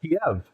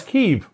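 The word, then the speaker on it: Kyiv: So I I remember when it was Kiev and now it's Kev.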